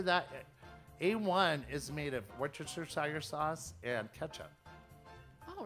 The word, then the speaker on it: Worcestershire: you cambridge shout out okay here's how to pronounce it in the u.s worcestershire worse worst let's do that one more time worcestershire where's the chair we're chester worcestershire one more time worcestershire worcestershire so worst to